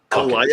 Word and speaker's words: Calliope: And and can you, Calippo Smith, can you please tell us how you pronounce your name? It's pronounced Calliope.